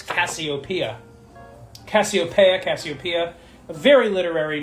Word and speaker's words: Cassiopeia: had to write this name down, because it's Cassiopeia. Cassiopeia. A very literary name. Very, very old school. Awesome name. Cassiopeia. 5 syllable, too.